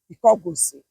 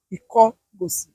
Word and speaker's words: Ikogosi: presented to me by the elders of the town of Ikogosi. The real name of Ikogosi was Ikogosi. Can you Mm.